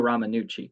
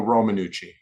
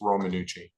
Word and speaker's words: Romanucci: Uh, your name is pronounced Ramanucci, correct? Romanucci, Romanucci, thank you so much. Ramannucci, it's Romannucci.